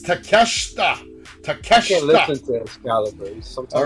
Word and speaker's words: Takeshita: Eddie Kingston fighting Kenosuke Takeshita. I said it right this time. That's a good match. Takeshita. Well, Takeshita is one of the best. No, Takeshita.